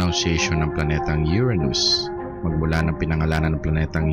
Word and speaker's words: Uranus: Parehas tama ang mga pronunciation na ito. Pero ang mga astronomers at karamihan sa scientific community ay mas gustong gamitin ng Uranus kaysa sa Uranus.